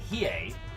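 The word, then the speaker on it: Hiei: the Imperial Japanese Navy battleship hii usually pronounced like he uh one of Kongo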